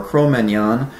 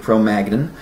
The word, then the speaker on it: Cro-Magnon: the name of before, Cro-Magnon, or to pronounce it the way most Americans would, Cro-Magnon.